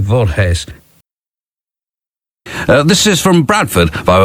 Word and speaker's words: Voorhees: able to identify them it's spelled v-o-r-h-w-s and i think it's something like vault haze this is from bradford